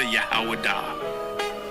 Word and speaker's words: Judah: When I say Judah, Yahwadah. That is the ancient pronunciation of the word.